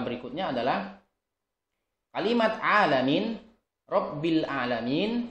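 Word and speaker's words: العالمين: adalah kalimat alanin rabbil alamin yang seharusnya dengan Ain ada beberapa orang yang mungkin membacanya dengan Hamzah ya alamin Gimana kalau alamin dengan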